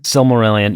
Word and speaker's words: Silmarillion: I wanted, I think, to get to the the I don't know how to pronounce it, the Silmarillion. Silmarillion.